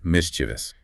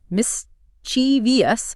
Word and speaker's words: mischievous: Many people pronounce it mischievous, inserting an extra I sound near the end.